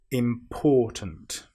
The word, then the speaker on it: important: Now we need to be very careful with this word because some people will put the stress on the im which is wrong. We need to put the stress on the or important.